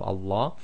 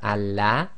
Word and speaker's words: Allah: of the the so we're going to join the a to the lamb so we would normally have Allah but you'll notice everybody says Allah and the rule of